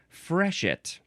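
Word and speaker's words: freshet: It is fresh it. That's the synonym. Fresh it. F R E S H E T.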